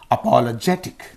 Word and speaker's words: apologetic: preceding the suffix okay apologetic is there aptic you have cut the word i i is in this syllable so the preceding syllable is this one this gets the stress apologetic apologetic apologetic so patriotic